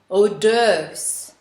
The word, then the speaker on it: hors d'oeuvres: french description which is hors d'oeuvres with a silent s in the first syllable the second taboo i